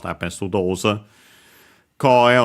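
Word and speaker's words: 声: Koe on its own, accent on the first more, means voice.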